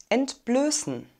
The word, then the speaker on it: entblößen: entblößen entblößten entblößen entblößen das präfix end ist immer unbedingt wir haben einen langen geschlossenen umlaut ö ein scharfes s also einen stimmlosen es laut und eine reduzierte and silbe das wird also als schwach oder sogar gar nicht ausgesprochen sie wollte ihre seele